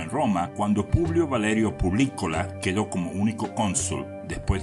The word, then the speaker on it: Publicola: Yo decía Publicola, pero en realidad se dice Publicola con un acento en la letra I, y eso proviene del latín servicio al público.